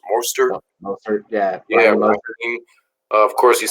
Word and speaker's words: Mostert: Mostert, yeah.